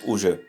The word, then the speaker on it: уже: It's written уже, but it's pronounced more like уже.